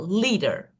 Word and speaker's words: leader: So that is special, just according to the rule, we have the first stress syllable, leader.